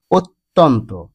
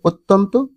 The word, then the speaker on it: অত্যন্ত: লেখাটাও ভুল লিখতে হবে অত্যন্ত অর্থাৎ আকার বসবে না আকার না বসিয়ে উচ্চারণও করতে হবে অত্যন্ত লিখতেও হবে অত্যন্ত এরপরে দেখুন অত্যাচার অতিযোগ